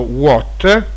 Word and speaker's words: watt: kelvin si semplificano e watt che andrebbe pronunciato what dal nome di james